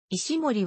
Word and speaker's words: 石森: が通例だった石森は石ノ森と読む sf マンガから学習